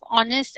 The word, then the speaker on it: honest: So, the sound of honest and R, they are beginning with H, but the sound of H is not there. The sound of H, the H is silent over there, so it sounds like R or honest.